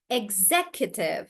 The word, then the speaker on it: executive: Executive. So instead of Tejas, we are not saying XC, we are still saying Z.